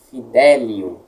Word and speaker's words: fidelium: Fidelium, aqui, nós encontramos a braquia no li. Então, a tônica é anterior. Delium, fidelium.